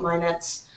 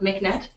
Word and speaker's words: MHIKNET: So it's pronounced MHIKNET, first of all, not MHIKNET, and it's Manitoba's Health